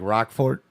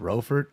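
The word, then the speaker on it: Roquefort: try again look like rock fort is that how it's pronounced rofert uh okay cues silent yeah I've never had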